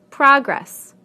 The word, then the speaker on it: progress: Progress, progress. Contract, contract. Object, object. Permit, permit. Again, we stress the first syllable in the nouns and the second syllable in the verbs.